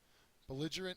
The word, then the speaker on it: belligerent: disinclined antonym is eager belligerent is next and I have uh two different pictures here because there are two different forms to this word uh it's both an adjective and a noun the second syllable is accented the adjective form it